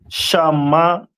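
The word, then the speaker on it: שמעון: And Simeon is pronounced in the Hebrew as Shamaiwan.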